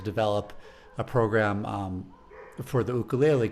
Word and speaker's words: ukulele: lot i can tell you say ukulele because that's how they say it in hawaii that is and and